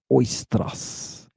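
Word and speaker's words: οἶστρος: Everybody who's learning Greek, spell it out. Oistrous. Oistros.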